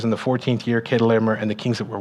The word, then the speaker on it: Chedorlaomer: It's not actually pronounced Chedorlaomer. It's pronounced Chedorlaomer, and we know that because most other historical records of this type of name, it's with a K instead of a CH, right? So it's Chedorlaomer, and he, like I